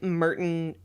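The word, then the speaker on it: Murton: A coal mine was really like it's like Merton colliery is how it's said, but I had never heard that word before.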